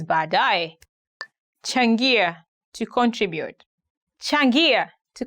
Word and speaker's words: baadaye: Today we are going to look at 10 hardest words to pronounce in Swahili. Baadaye, later. Baadaye, later.